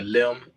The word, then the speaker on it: Lim: it's uh it's uh it's spelled Lim so it's out on a limb and we uh spread